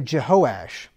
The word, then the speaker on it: Jehoash: me just let me say something here so Jehoash that's how you pronounce that Jehoash is another name for joash so whenever you